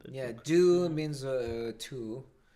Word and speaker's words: deux: Deux means two. It's titled Joker Folly Dux, but I don't know what it's The X is silent.